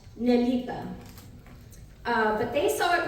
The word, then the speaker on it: Nelita: is a Portuguese Sur name that is correctly pronounced nelita uh but they saw it written down and